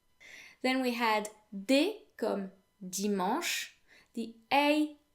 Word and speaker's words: dimanche: pronounced the same as the a n in the english word restaurant oh and ch in french is pronounced like sh in english and not ch not dimanche okay then we had